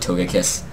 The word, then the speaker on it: Togekiss: apparently when you say when I say the soft G i trigger some people cuz it's supposed to be Togekiss but I feel like